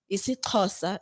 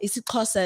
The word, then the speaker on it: isiXhosa: Isixhosa. Isixhosa is where the X makes the click sound.